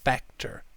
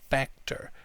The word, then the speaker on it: factor: a key factor in one thing that i'd say about the pronunciation of factor is that students tend to pronounce this a almost like an o or u and it can sound like a swear word so try and make it a more nasal sound factor factor can be